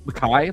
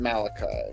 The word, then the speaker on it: Makai: Is it Kai Lemon? Makai Lemon? Lemon? Yeah, yeah. It's not Malachi.